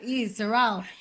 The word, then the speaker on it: Sorrelle: find because I am literally the only Sorel in the entire world spelled my way because there are way too many letters there's two r's two e's two L's s-o-r-r-e-l-l-e Sorel and so uh I am the only one